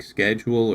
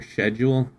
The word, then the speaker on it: schedule: It's like schedule or schedule. Yeah. Well, I never say schedule.